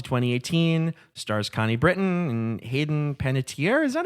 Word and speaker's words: Panettiere: from 2012 to 2018, stars Connie Britton and Hayden Panettiere. Is that how you pronounce her name?